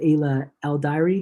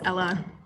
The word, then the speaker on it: Ella: name wrong um AA is it a el is that right yeah you can it's Ella oh it's Ella I'm so sorry okay